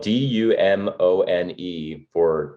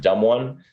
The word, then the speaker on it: Dumone: call sign it's spelled D-U-M-O-N-E and he'll pronounce it Dumone, but you can pronounce it dumb one.